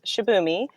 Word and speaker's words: Shibumi: I'm saying that right yes you are pronouncing it correctly it's shabi and it is not